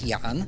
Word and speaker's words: Jan: I would say it's Jan. It's Jan.